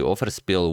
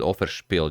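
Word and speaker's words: Offerspill: you guys said that I've been mispronouncing it like it's German I've been saying oh freshpiel but it's actually overspill which translates to sacrificial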